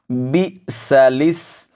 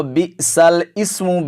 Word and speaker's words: بِئْسَ الِاسْمُ: الفسوق، بئس الاسم الفسوق۔ اس کو بئس الاسم بالکل نہیں پڑھیں گے، یہ غلط ہے۔ حمزہ کے نیچے زیر نہیں ہے، زیر لام کے نیچے ہے۔ اب اس آیت